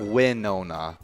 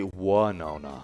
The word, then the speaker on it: Winona: no oh yeah yeah it's not win no no it's one yeah a lot of people say why nona why no no yeah then then there's a lot of people that now mispronounce it because there's a singer called winona ryder yes and say one no no yes but it's actually one oh no one no no all